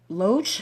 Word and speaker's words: Loesch: sad Gary you say his last name mm-hmm loach loach okay I thought what I was gonna